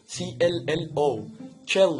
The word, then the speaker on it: cello: ما عدا كلمة واحدة بس، أو في كلمات تانية بس مش متذكرة صراحة. في كلمة اسمها cello، cello هي بتتنطق كده.